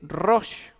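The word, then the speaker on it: ראש: La palabra cabeza se dice rosh. Se escribe con la resh, con la alef y con la chin.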